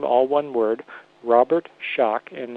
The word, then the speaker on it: Schoch: all one word Robert Schoch and it's spelled ro be ERT Robert SCH och calm WW Robert Schoch and that's s CH for shock SCH o CH for